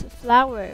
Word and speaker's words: flour: okay very good okay can you please say a flour flower yes okay that should be pronounced as flower okay okay let's have